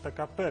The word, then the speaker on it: такаббер: Такаббер. Высокомерный, искренний, смелый. Такаббер. Ну, то есть, да, у нас говорят такапер, я слышал, не Б, вот как вы произносите.